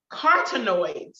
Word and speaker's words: carotenoids: note quarter nodes yes get my enunciation correct carotenoids is how you pronounce a carcinoids they do